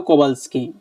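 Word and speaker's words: Kowalski: বে আ এল এস কে কা ই এইটার উচ্চারণটা মানে প্রনান্সিয়েশনটা একটু বলবেন কোবালস কি বললাম না ফ্রাও এটা না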